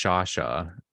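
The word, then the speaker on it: Sciascia: George from Canada George Sasha um I know it doesn't look like that when if you end up looking up his name but that's actually how it's pronounced yeah um he was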